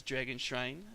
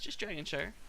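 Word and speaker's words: Dragon Shire: around the shines here a lot of people mispronounce this Maps team as dragon shrine it's a dragon chair kind of like New Hampshire or worse - shirt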